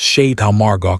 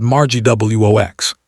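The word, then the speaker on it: Château Margaux: The time she had mispronounced Chateau Margaux at a wine tasting. She said Margie Wox, he demonstrated, and Candace actually covered her mouth.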